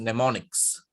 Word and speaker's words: mnemonics: Okay, the M is silent, this is mnemonics.